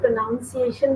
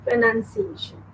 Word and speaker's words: pronunciation: इसको कई लोग pronunciation भी बोलते हैं. No, it is pronunciation.